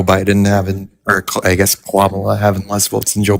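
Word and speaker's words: Kamala: having or I guess Quamala having less votes than Joe Biden? Is there a reason that you pronounced it quala? Oh, my bad. I It's Midwestern accent.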